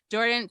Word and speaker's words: Jhordynn: presenting for us today and she oh it's pronounced jordan but you see how it's spelled awesome uh